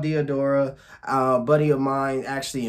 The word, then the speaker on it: Diadora: um yeah trying to find out is called Theodora uh buddy of mine actually invested in this